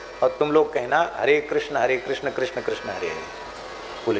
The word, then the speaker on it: कृष्ण: Bidder है गई और उच्चारण में कोई किस किस कहते, कोई कैस कैस कहते, हरे कैस कैस कैस हरे हरे। कृष्ण नहीं बोल पा रहे थे बेचारे गांव के लोग। अभी भी एकदम शुद्ध कृष्ण शब्द का उच्चारण लोग नहीं करते। कृष्ण ये शुद्ध उच्चारण है, पर इतना सावधानी से